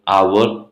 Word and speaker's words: hour: But whereas when we use the word with the silent letter H, for examples, an hour, an honest man, an hair, here we use an though the word starts with consonant because these words take the sound of a vowel, hour, honest, hair.